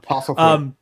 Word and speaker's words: Postlethwaite: Bobby, you're just going to be the one to pronounce his name from now on. Postlethwaite.